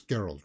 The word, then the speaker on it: Geralt: by um Henry Cavill it's geralt right a hard G pronunciation let's go into this